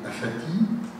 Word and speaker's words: Aphatie: singulier je convient apathti mon nom s'écrit APH à en bon français on devrait le prononcer àti et on le prononce quelquefois àti parce qu'on l'écrit mal APA TH et en français effectivement apathie APA th a la signification que vous avait donné mais apti APH AP c'estàdire comme il s'écrit est un vieux